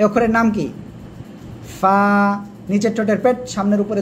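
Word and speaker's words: قاف: সে অক্ষরটা হলো এই অক্ষরটা এ অক্ষরের নাম কি ফা নিচের ঠোঁটের পেট সামনের উপরে দুই দাঁতের আগায় লাগাবেন লাগিয়ে হালকা বাতাস বের করবেন উচ্চারণ করবেন ফা সবাই একসাথে জোরে জোরে বলেন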